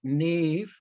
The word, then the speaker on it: Niamh: We've also met Niamh, and her first name is not spelled anything like it's pronounced.